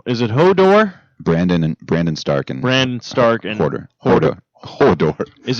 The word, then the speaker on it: Hodor: Maybe it's Hordor, but he always says like Hodor. Yeah, that's what I thought. He says Hodor.